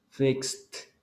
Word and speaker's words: fixed: No hay vibración, entonces significa que lo va a pronunciar como una T. Kissed. Wash. No hay vibración. Washed. Fix. Fixed.